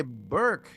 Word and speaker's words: Bourque: Burke. Welcome. Thank you. Welcome. And thank you for uh pronouncing the last.